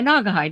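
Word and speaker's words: Naugahyde: I don't know how to pronounce that. Yeah, Nagahide.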